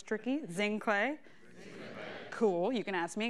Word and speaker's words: Zinhle: a little bit more about me hi I'm zinc lay you why don't we try saying my name cuz I know it's tricky zing clay cool you can ask me again I know